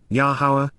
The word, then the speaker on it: Yahowah: And, then, Yahowah, the proper pronunciation of the name of Eloah, God as